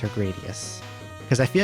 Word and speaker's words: Gradius: I don't know if it's like a long A or a short A. Theio former is correct. Gradius.